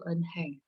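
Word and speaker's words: 은행: Dibacanya apa ini? Oke, atau Regin, Bu Ihsan coba Regin. Enheng. Enheng, ya, Enheng, ya. Bank itu Enheng.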